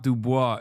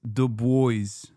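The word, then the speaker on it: Du Bois: No, it's not Dubois. It's the boys.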